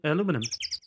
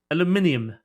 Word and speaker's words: aluminium: are pants made of Alum aluminum aluminium if you pronounce it correctly I didn't talk about